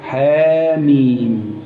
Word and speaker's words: حم: التي تبدا بها السور حا مم هكذا تنطق تنطق تنطق حا تمد حركتين حا حا حا ميم تمد ست حركات هذه الحروف المقطعه في